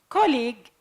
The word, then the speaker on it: colleague: say castle like listen colleague the UE the final two letters aren't pronounced that's what concerns Island